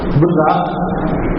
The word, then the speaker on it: براق: کے لیے ایک سواری براق منگوائی گئی۔ صحیح تلفظ تو اس کا غالباً براق ہے، براق راق کی شد کے ساتھ، لیکن اردو کے اندر